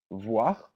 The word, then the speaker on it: voir: Voir, voir, OIR in French is pronounced voir, sorry.